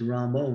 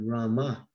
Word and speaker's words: Rama: Krishna, Hare Krishna, Krishna Krishna, Hare Hare, Hare Rama, Hare Rama, Rama, Rama. Instead of saying Rama, they say Ramo. And Prabhupada was very strict about avoiding this Ramo instead of Rama.